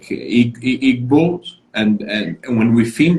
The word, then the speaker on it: Igbo: like uh is like igbo and and when we feed those 50 million are people that are connected to some jewish roots is that correct so the g is silent it's igbo and so there are